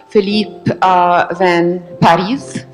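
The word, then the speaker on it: Philippe Van Parijs: We are very, very lucky to have Professor Phillippe Van Parijs, which is how I learned today how to pronounce it.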